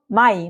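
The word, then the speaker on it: Mai: যদি আপনারা কোথাও এ আই বা ই আই দেখেন হ্যাঁ যেটা ডছে কি আ ই এ হ্যাঁ তখন সেটার উচ্চারণ হবে আই তখন সেটার উচ্চারণ কি হবে তখন সেটার উচ্চারণ হবে আই উদাহরণ যেরকম মাই মাই অর্থ কি মে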